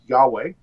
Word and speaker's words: Yahweh: which is the four letters of God's name, YHWH, and it's usually pronounced Yahweh.